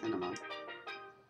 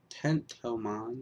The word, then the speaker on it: Tentomon: Alright, now I gotta go back to Tenamon. Tentomon, not Tenamon.